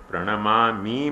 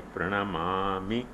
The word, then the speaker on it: प्रणमामि: देखो एक उच्चारण सुधार लो, प्रणमामि मुहुर्मुहुः नहीं, प्रणमामि मुहुर्मुहुः। मामी दीर्घ बोले ना तो आपका मतलब मामी हो, मामा की पत्नी।